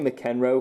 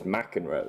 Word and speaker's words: McEnroe: what you McEnroe even I want to say mac n roll because that's how it is phonetically but it's McEnroe so I've got a god